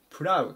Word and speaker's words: proud: 言います 758 板プラウドトゥプラウド発音に注意ですねプロというふうに生まないように気を付けて下さいプラウド誇りを持っ